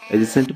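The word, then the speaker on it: adjacent: एडजेसेंट में आप समझ लीजिए कि डी जो है वो साइलेंट है।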